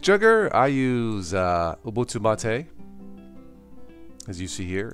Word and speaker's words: MATE: better than Marte ah not today it is pronounced Ma Tei it's simcha Motti is a tea a drink